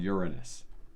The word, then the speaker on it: Uranus: more rings around Uranus I know what you were thinking and you were thinking I was going to pronounce it another way but the planet is called Uranus yes it is uh